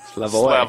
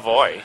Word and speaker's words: Slavoj: You pronounce the J. I mean, you can pronounce it, but it's got to be like a Y. Like Shlavi? Slavoj. Slavoj.